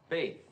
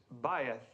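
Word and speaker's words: בית: Uh, bathe. Well, almost right, Mr. Crane. Thank you. The correct pronunciation is bayth.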